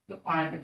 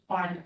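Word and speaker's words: Bequenia: Bequeania D. I'm sorry? Bequeania D. Can you spell that for us?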